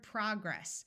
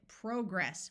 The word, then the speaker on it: progress: Another word with a difference between American and British English is the word progress, which in American English has a short O sound, whereas the British pronounce it progress with a clear long O sound.